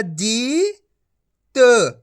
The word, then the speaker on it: जीत: उच्चारण हो जाएगा जीत छोटी ई की मात्रा को कम खीच के पढ़ा जाता है और बड़ी ई की